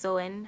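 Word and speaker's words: Samhain: to the ancient Celtic Festival of some hang pronounced so in how is something pronounced so in so the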